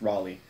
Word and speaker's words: Raleigh: or route Raleigh is how he as it pronounced in that in the movie he gets made of fun of for calling it Rayleigh it's Raleigh but Raleigh's character and the marshal they they